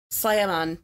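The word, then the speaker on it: Tla'amin: So just linguistically, there's different sounds. So Slyamun, I think, is how you pronounce it, which is a band that is from Powell River region of British Columbia.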